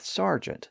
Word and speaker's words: sergeant: Remember that the presence of that R changed the preceding vowel from air to R, and that gave us two competing pronunciations, sergeant and sergeant, and the spelling was fixed before the pronunciation was resolved. So we ended up with sergeant, spelled with ER and pronounced AR.